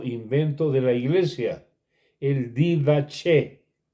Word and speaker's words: didaché: de la iglesia el didaché didaché se escribe como suena que son los hechos